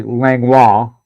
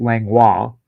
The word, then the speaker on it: Langlois: not viola it's voila because that's the way you pronounce that letter combination in french c-i-o-l-a is going to